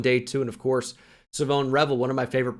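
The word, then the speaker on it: Shavon: I know it doesn't look like it'd be pronounced that way, but I am 99% sure it is Savone Revel Jr.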